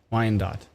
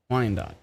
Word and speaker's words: Wyandot: for me thank you pronounced y-n-dot Wine Dot Wine Dot thank you apparently at